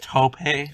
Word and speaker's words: taupe: what he he's wearing it's a t o u p with an accent Mark over e yes yes a t pronounced Tope Tope it's he's wearing a